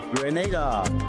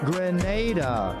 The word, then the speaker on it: Grenada: But I heard in English it's called Grenada. Say it right. Grenada.